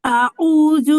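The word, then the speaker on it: أعوذ: আউযু আউযু জু, আউযু আপু জাল কি হবে, জিহ্বার আগা উপরের তালু মানে উপরের দুই দাঁতের আগার সাথে লাগবে।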